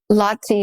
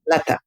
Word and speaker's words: Lata: You talk about with Lati Mani, is that how you say her name? Lata, yeah. Lata, thank you.